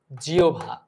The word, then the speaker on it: জিহ্বা: তবে একটা বিষয়, জিহ্বা যেটা রয়েছে এটার উচ্চারণ কিন্তু জিহ্বা।